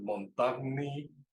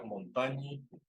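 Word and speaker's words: montagnii: El Montagny, que diría uno si lo lee en español, realmente se pronuncia montañi.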